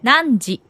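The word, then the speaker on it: 何時: itu kan cara Ayo cara bacanya adalah n di N N titik titik titik dan jawabannya adalah nan di sini nanji nanji nanji jam berapa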